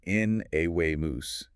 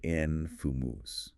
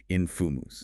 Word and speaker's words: infamous: at infamous often mispronounced as in awe mus but it should be i infumus three syllables stress on the first with schwas in the middle and end infumus infimumus okay so